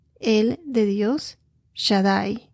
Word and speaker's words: Shaddai: Dios Todopoderoso Y eso en hebreo es el Shadai el de Dios Shadai s h a d d a i así se pronuncia que significa todopoderoso en inglés es God